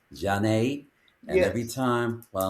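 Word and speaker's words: Zhané: That's the Jean with a Z h, which is pronounced Jane.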